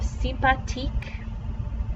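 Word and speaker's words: sympathique: nice so you have simpatique this th does not make the same sound in french it's just a t sound the h is silent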